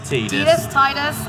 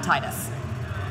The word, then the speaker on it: Tidus: Tidus. I say Tidus, but people yell at me on YouTube. Well, Wacker pronounced it Tidus in Kingdom Hearts, so I guess that has to be the official pronunciation.